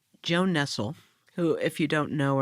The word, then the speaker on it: Nestle: Like Nestle only pronounced Nestle.